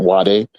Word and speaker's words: Wade: at the time, Jonathan Wade is how it's spelled, but they pronounce it wide or Jonathan Wade.